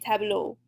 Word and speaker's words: tableaux: So our example, un tableau becomes des tableaux. Again, pronunciation doesn't change. All that changes is the article, and then we add our extra X at the end.